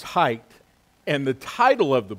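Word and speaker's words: Haidt: of Jonathan hey and his last name is spelled h a i d t uh but it's it's pronounced as height and the title of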